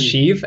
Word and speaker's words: Sheev: sh the first time I've always heard it pronounced as sheeve and I I think